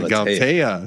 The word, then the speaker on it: Galatea: Or is it pronounced Galatea? Yeah, Galatea.